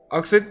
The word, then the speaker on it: Oxyd: And then, how do we pronounce this one, Mojo? Which one? OXYD. Oxid? Oxid?